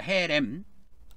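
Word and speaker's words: חרם: 그 진멸하다고 할 때 히브리 말로 헤렘 그럽니다. 헤렘 헤렘 그렇게 발음합니다. 근데이 헤렘이라고 하는 것은 하나도 살리지 말고 하나도 살리지 말고 죽이는 거예요.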